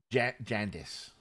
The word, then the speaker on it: Jandis: Jandis. Jandis. Like jaundice, but different.